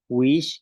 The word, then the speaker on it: wiix: Wish, que es orina.